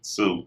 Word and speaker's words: Tsu: And it's spelled like TSU, Sue.